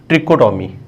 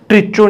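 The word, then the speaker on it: trichotomy: तो पहली प्रॉपर्टी का नाम है लॉ ऑफ ट्रिकोटोमी, ठीक है, ट्रिचो नहीं बोलना है, CHO नहीं बोलना है, ट्रिको, H silent, law ऑफ ट्रिकोटोमी।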